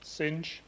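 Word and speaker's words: Synge: Sing. Well, JM Singh, yes, it's pronounced Sing.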